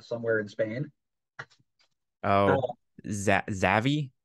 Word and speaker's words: Xavi: This stems directly from the fact that one Xavi, is that how you pronounce his name? That guy who's coaching for Brocalona somewhere in Spain. Oh, Uh, Zavi. Xavi, there it is.